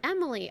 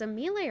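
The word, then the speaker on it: Emilie: Oh, it's pronounced Emily. Okay. I wasn't sure if it was Amelia or Emily, but I guess it's Emily.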